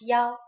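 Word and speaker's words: 幺: numbers and so on we pronounce one as Yao for example a bus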